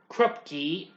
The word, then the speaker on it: Krupke: And well, they get into one big fight, but of course they get caught by Officer Krupke, yeah, that's how you pronounce it, and Lieutenant Schrank.